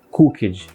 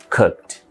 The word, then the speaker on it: cooked: Não é worked, não é checked, não é cooked. É worked, checked, cooked. É como se a gente tivesse pronunciando um Tzinho mudo. KT no final.